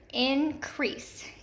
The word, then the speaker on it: increase: This is an EA pattern. Increase, increase. And we hear that accented syllable in our second, the accented E, in our second syllable.